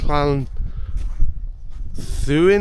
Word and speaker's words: Llanddwyn: So, um, I think it's pronounced Clan Thuin Island. I think I think the double D is like a th sound.